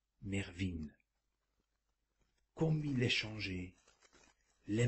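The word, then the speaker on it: Mervyn: rappeler à votre oreille le mot qui se prononce mervine comme il est changé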